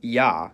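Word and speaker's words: Я: It's called ya, and as its name suggests, in most cases, it sounds like ya. However, when it comes after a soft consonant, which is a consonant pronounced with the tongue close to or touching the roof of the mouth, the y is dropped, and it's pronounced as a.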